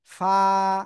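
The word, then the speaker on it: ف: অক্ষরটা উচ্চারণ করব কিভাবে নিচের ঠোঁটের পেট উপরের দুই দাঁতের আগার সাথে লাগাবো এইযে নিচের ঠোটের পেট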